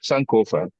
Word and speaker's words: Sankofa: So Sankofa.